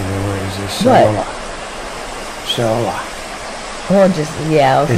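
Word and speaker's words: Seollal: Solar. Well, just, yeah, okay. It's solar. Korean New Year. Yeah. You can hear me sounding it out, right? It actually is pronounced as it looks.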